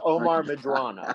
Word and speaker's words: Omar Medrano: You say my name correctly, anglicized, but I had a mentor that Omar Medrano. There's no A. I'm not Italian. It's Omar Medrano.